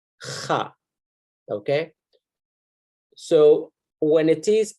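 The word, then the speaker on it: خ: So it's a different letter, and it's pronounced as kha, kha, okay?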